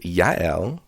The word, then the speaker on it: Jael: and fun fact jl is more commonly pronounced yael yeah and is currently